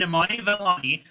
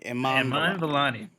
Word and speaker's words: Iman Vellani: With Miss Marvel lead Imani Vellani, that's a name. It rhymes. Sorry, it just caught me off guard saying it out loud like that. Iman Vellani. I know. I added an extra I in there because I wanted it to rhyme in my head.